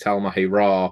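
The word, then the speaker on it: Tal'Mahe'Ra: By the V20 Talmahi Ra book, that's how you pronounce it, and use the Chronicle in the back of it.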